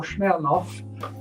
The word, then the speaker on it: Smirnoff: i'll come back to smirnoff or schnellnoff it's pronounced in russian a little bit later